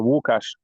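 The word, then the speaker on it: Łukasz: It's Wukash. Wu is like Lukasz. L with specific pronunciation. So Wukash.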